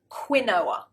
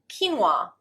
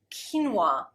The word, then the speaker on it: quinoa: rice and cuscus really now British people often pronounce this word quinoa it's not it looks like it it really does but the actual pronunciation is quinoa quinoa we mispronounce it a lot so let me